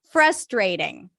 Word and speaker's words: frustrating: FR FR frust frust right so connect the F to the r frust ray stress that's the primary stress frustrating stress is on the first syllable frustrating frustrating that's very frustrating frustrating Ray a is in day okay frustrating and then another